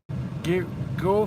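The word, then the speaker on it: Geaux: Go Frugal. And you spell it G-E-A-U-X, frugal. That is really cool. Somebody comes up with a kind of an innovative way of saying go frugal.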